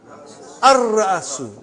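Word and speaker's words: الرأس: How will you pronounce? Ar-Ra'asu. Not Al.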